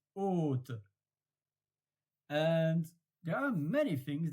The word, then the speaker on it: haute: So haute, if you don't know, then you will have written OTE. But because there is an H and also the circumflex accent, then you pronounce haute.